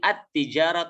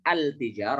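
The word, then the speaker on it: التجارة: lam kepada huruf Anya artinya lemnya tidak dibaca jadi alifnya Farha langsung ke huruf setelah Langsa kan huruf ke-3 Rotun hijaro tune ideal menjadi at-tijarah tuh tidak boleh albijar Oh ya boleh ya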